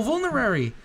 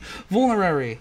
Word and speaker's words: Vulnerary: Oh, Vulnerary! I pronounced it right! Yes! I can end the episode here. I pronounced crap, I can't do it again. Vulnerary. Yes, Vulnerary.